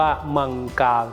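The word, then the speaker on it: मङ्गल: อังคาร ที่ ใน ภาษา สันสกฤต ออก เสียง ว่า มังกา นั่น เอง นะ ครับ มังกา เทพ หรือ มงคล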